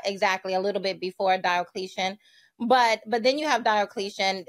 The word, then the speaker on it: Diocletian: But I've heard you on a number of occasions talk positively about, how do you pronounce it? Diocletian? Diocletian.